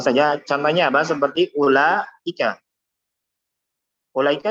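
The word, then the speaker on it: أولئك: Ulaika nulisnya bagaimana? Nah, seperti ini. Ya. Ulaika. Tapi bacanya apa? Ulaika. Ulaika. Jadi bukan ulaika salah. Kalau kita baca ulaika salah. Tapi ulaika. Jadi setelah langsung la. Ulaika. Yang panjangnya la-nya saja. Adapun u-nya pendek. Kenapa? Karena waw di sini ada secara tulisan saja, tapi secara pengucapan tidak ada.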